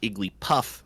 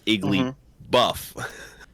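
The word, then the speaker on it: Igglybuff: wrong for years because i thought it was iggly puff it's iggly buff get swole uh the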